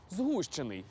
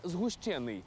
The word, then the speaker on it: згущений: його зі словом згущенка а саме слово згущений а не згущений ви це знали як